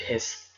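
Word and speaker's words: ح: The first, the beginning part is this one, and after that it is rounded like this and has one dot in the middle, and this can be pronounced Jeem, Jeem, Jeem.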